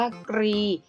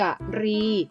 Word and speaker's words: กรี: 1 ใช่ อ่าน ออก เสียง แบบ คำ ควบ กล้ำ แท้ นะ คะ ออก เสียง ว่า รี ซึ่ง หมาย ถึง โครง แข็ง แหลม ที่ หัว กุ้ง นั่น เอง ค่ะ ส่วน แบบ ที่ 2 ให้ อ่าน ออก เสียง ว่า กะรี ซึ่ง หมาย ถึง ช้าง นะ คะ เมื่อ นำ คำ